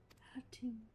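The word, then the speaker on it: Khatun: Hatun. See, don't pronounce the K.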